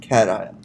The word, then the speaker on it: cation: Remember, it's pronounced cation, not cation. It's pronounced cation.